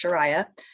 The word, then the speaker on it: Sharia: Most people say it wrong. It's Shariah.